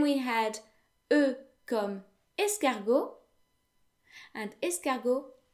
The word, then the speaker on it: escargot: had uh escargot and escago actually ends in the letter t but that letter is silent very often in french